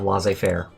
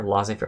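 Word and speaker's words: laissez-faire: pass we must have L Fair La Fair L Fair what do you guys say do you say l fair or do you say la Fair I've always said L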